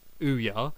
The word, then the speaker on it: Ouya: Um Ouya, pronounced Ouya, is an upcoming video game console running its own version of the Android operating system.